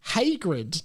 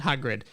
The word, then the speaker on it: Hagrid: to feel pain and it's actually pronounced Hagrid not hrid there you go guys